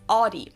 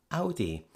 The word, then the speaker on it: Audi: What we would do is we would tend to use our own vowel from the words mouth, sound, bow, etc. Of course, that's not exactly like the German Au, but what we're doing